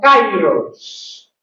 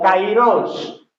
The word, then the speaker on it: kairos: está utilizando otro término, es el término kairos o kairos, como algunos predicadores o biblistas lo pueden pronunciar.